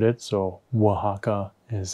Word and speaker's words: Oaxaca: pronounce it because otherwise i would have really butchered it so oaxaca is how you're supposed to pronounce it and